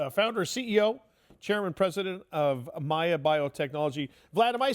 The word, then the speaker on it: MAIA: vitto is the founder CEO chairman president of Maya biotechnology Vlad am I saying that right is it Maya m a a is that the way you pronounce it yes Maya their uh ticker symbol is m AIA so